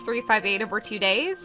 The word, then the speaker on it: 358/2 Days: welcome to my let's play of kingdom hearts 358 over two days and yes that is the official pronunciation of the title um we'll be calling